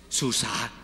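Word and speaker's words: סוסה: Bien, o sea, bien interesante que también simbolice el aliento del Eterno, porque la letra E no es G, sino como una G. Yo lo digo como una H muda nosotros porque es como más práctico, pero en realidad es como un...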